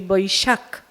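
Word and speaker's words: Vaishakh: Salamat Hari Tri Suchi Vaisak. This is the Vaisak, is actually Vaishak. So the pronunciation changed the same time and the same day.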